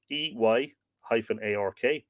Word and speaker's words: Irk: The shaft or handle had generally a ferrule or ring of horn, Irk, pronounced EY-ARK, on its upper end to keep it from splitting.